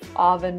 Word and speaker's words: oven: let's talk about pronunciation the pronunciation is not oven but oven the first syllable makes a sound uh like cup and up uhuh this is a relaxed sound your mouth is almost closed uh uh uh oven oven so let's talk about